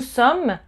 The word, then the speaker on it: sommes: So, nous sommes, vous êtes. Nous sommes, you don't pronounce the S at the end either.